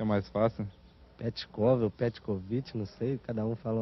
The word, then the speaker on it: Petkovic: Pronunciei o meu nome é Petkovic. Como? É, vou repetir outra vez e não mais, Petkovic.